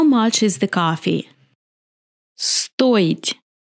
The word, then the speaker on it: стоить: Стоить. Я стою. Ты стоишь. Он стоит. Мы стоим. Вы стоите. Они стоят. In this verb, I will pronounce O clearly because O is stressed.